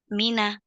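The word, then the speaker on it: مِنَّا: dari guru saya bahwa kata Mina itu bacanya itu Ditekan di huruf Mi Mina maka saya akan sampaikan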